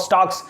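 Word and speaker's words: stalk: याद करेगी Brock of स्टॉक है ना ब्रो को आप स्टॉक नहीं पढ़ेंगे ल साइलेंट है वो कब स्टार्ट फाइल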